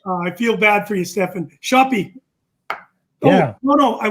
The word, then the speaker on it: Steffen: name's stefan i'm saying it right right it's stefan that's fine let me ask you this question